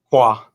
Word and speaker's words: Koa: Is it Koa? Kwa. Kwa. Kwa. Kwa. Yeah. Or you pronounce more the H or the K? It's more of a Q sound.